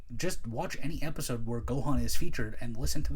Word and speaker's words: Gohan: But he's like, you're Gohan's kid. It's pronounced Gohan, and they, like I said, they commit to so much.